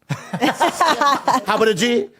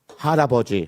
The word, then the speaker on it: 할아버지: Habaraji.